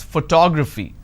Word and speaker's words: photography: i pronounce this as photography how do i pronounce photography and how many syllables do i have here four toe grab fee four syllables but in this case i stress on the second syllable that is what word